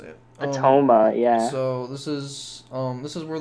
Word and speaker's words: Atoma: Atoma, yeah.